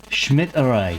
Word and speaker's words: Schmidt: Um, that's Martin Smith from how do you say that? Schmid. Schmid. Yeah. Schmid. Yeah, I I say it in one word. This is my German persona.